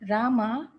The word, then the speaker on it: Rama: The words Hare pronounced Ha-re, Krishna pronounced Krishna, and Rama rhymes with drama are Sanskrit words.